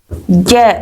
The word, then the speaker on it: ज्ञ: यह ज्ञ है ना इसका उच्चारण हम गलत करते हैं। एनसीईआरटी की बुक के अनुसार इसका ग जो उच्चारण है वो गलत है। इसका शुद्ध उच्चारण जो है वो है ज है ना ज्ञ का अगर हम बोलेंगे तो ये ग और य से मिलकर के बनेगा। ग और य से जो कि गलत है।